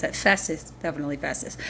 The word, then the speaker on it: Festus: c i u s forches that's how I pronounce that Festus definitely Fus f s t us fesus but